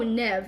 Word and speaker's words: Neve: Oh, Nev. It's pronounced Nev. I love it.